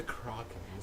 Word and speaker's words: Krakens: Am I pronouncing that properly? It's the Krakens.